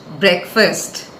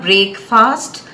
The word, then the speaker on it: breakfast: breakfast every morning the second last word is breakfast breakfast it's not break fast but breakfast let's use it in a sentence